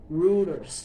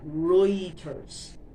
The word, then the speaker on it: Reuters: Um I thought it was rulers like that, but it's actually Reuters.